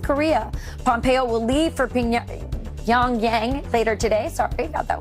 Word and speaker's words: Pyongyang: Pyongyang. Pyongyang.